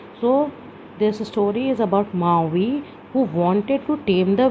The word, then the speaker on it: Maui: So star means you can see to how to pronounce this word, pronounced as Maui. So that is why it is starred here. So this story is about Maui, who wanted to tame the wind.